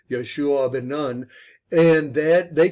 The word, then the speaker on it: Joshua: only caleb and joshua joshua is pronounced yeshua bin nan and that